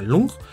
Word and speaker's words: long: viene del dragón que se escribe long pero se pronuncia lung y viene de shu